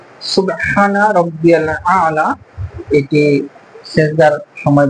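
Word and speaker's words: سبحان: আলিফ এটা হচ্ছে এক আলিফটা নিয়া পরিত হবে সুবহান সুবহানাল্লাহ।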